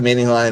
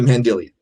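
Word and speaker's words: Mandylion: I originally called it the Mandelion. It's not the Mandelion, it's the Mendelian.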